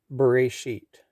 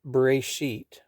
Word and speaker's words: Bereshit: The first word is Bereshit. It is spelled Bet Resh Shin, Bet Resh Aleph Shin Yud Tet.